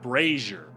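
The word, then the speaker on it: brazier: vocab word for that brazers brazer rhymes with Frasier I wonder if Frasier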